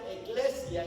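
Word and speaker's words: ἐκκλησία: La palabra iglesia es una palabra griega que se pronuncia eclesia y significa salir fuera.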